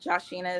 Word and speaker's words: Josha: Um Josha is how you pronounce my name.